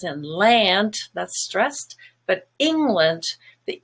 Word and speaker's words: England: So land is a kind of black sound, but England has a stress on ing, which is silver, and land becomes lund, just a schwa instead, England.